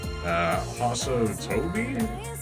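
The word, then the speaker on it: Hassou Tobi: But also, Yoshi has the exclusive skill, Haso Tobi, that's how you say it.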